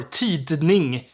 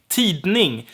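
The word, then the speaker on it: tidning: no it's less sem then we have ti ning or ti de ning which means newspaper t ning not super weird to use the d there ti ning tit ning however it's most likely gonna be t ning then we have g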